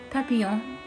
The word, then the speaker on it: Papillon: I'm not pronouncing it properly, I should pronounce it. Papillon, I can speak French.